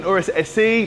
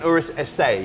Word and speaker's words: Urus SE: People call it an Urus SE. People call it an Urus SA. The correct pronunciation is SA. SA. SA, absolutely. Doesn't mean it's a letter A. It's just because it's Italiano.